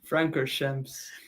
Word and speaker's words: Spa-Francorchamps: Spa-Francorchamps. Spa Franoshamps, mate. Are you mad? Francorchamps. Francoshamps, bro. Yeah, dude. What was there was more, man. You was mocking the pronunciations, lad.